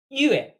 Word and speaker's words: 越: Our last structured character, yue, pronounced just like moon or month.